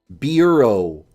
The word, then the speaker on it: bureau: Bureau. This is pronounced bureau, even though it's spelled Boo-Riao.